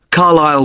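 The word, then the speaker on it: Carlisle: You don't pronounce the S. Carlile way.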